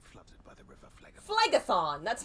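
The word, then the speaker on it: Phlegethon: flame having been flooded by the river flag flagothon that's how you say it superheated contents could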